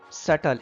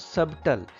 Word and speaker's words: subtle: damn care settle settle b is silent here subtle it is not subtle subtle means fine precise